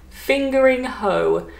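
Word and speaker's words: Fingringhoe: so i'm gonna say i think it's pronounced in essex fingering hoe now a hoe is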